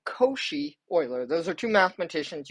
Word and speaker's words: Cauchy: These are called Koshi Euler. Those are two mathematicians. You guys have seen Euler before, even in the semester, and several throughout. Cauchy is another mathematician. That's how you say it, Koshi.